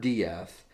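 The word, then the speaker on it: d'Eath: that that's right it's it's spelled exactly like death except for the the apostrophe between the d and the e and so it's edward diaz and he comes from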